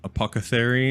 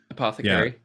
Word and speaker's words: apothecary: in the apoc uh apoca theory is how you say that word i always get that right apothecary apothecary thank you those two levels